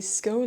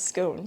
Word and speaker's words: scone: I pronounced it in my head as "scone" for such a long time that I have a really hard time pronouncing it as "scon," as I have learned it's supposed to be pronounced.